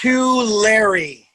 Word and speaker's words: Tulare: uh what the fresno it's pronounced to larry it's too lary if you hand something